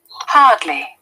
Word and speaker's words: hardly: Hardly. This is British IPA. Hardly. R is silent. Hardly. Yeah. Hardly. American IPA. R is there.